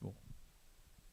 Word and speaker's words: Vol: Told it's pronounced vol.